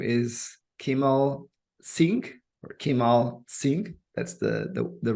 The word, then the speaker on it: Kimal Singh: His name is Kimal Singh, or Kimal Singh. That's the right way to pronounce it.